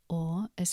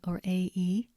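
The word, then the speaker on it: hora: H is usually silent, for example, ora, ostia.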